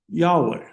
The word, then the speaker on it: Yahweh: And we would pronounce it Yahweh.